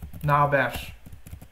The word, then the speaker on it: ne haber: Então aqui a gente escreve burada, só que a gente pronuncia burda. Outros exemplos? Nerede vira nerede. Ne haber vira naber.